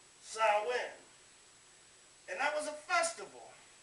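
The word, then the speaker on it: Samhain: origins in an ancient Celtic Festival known as sawin now it looks like Sam hay but it's actually pronounced s in and that was a festival at the end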